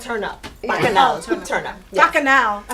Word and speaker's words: bacchanal: Bacchanal, turn up.